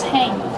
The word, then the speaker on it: hang: you install it you hang the shower curtain on the shower curtain rod how do you pronounce hang hang use a long a sound like plate and date hang hang like this hang